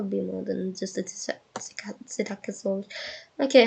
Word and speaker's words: Psittacosaurus: non-avian dinosaur genus, the Psittacosaurus is joining the roster in Jurassic World Evolution 3. So it means species-rich because the genus is Psittacosaurus. P is silent like Pteranodon.